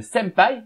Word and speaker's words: senpai: le m n'existait pas cependant le pen se prononce comme un m16 sans paille est la vraie écriture tandis que sempai l écriture phonétique senpai bout c'est qu'il est